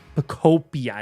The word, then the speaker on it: Pokopia: Pokopia is how you say it.